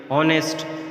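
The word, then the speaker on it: honest: पढ़ेंगे बल्कि नाम पढ़ेंगे ऑनेस्ट ऑनेस्ट जो है इसमें हा साइलेंट है इसी तरह एटम में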